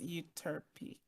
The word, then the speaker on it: Euterpe: people say tomato, but I'm looking at the pronunciation, and it's Euterpe. Well, there you go. Like E as in like fleece. Okay, so it is Euterpe. Okay. Yeah, so it's Euterpe.